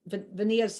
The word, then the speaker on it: Vania: I got to say Pennsylvania. Got it, Vania.